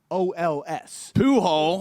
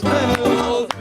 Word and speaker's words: Pujols: It's spelled Pujols. Poo-hole. But you pronounce it.